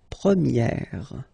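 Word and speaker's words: première: prier and then for the feminine form you will get Premier okay so it's open this a sound Premier prier and then second example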